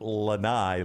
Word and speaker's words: lanai: she just texts me it's pronounced Lanai like bye Lanai like by Lanai